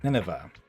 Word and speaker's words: Nineveh: Okay, so that's how you say it. Nineveh.